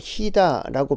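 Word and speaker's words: חידה: 수수께끼와 비유를 말하라.이 이 수수께끼라는 말은 히브리어로 희다라고 발음합니다.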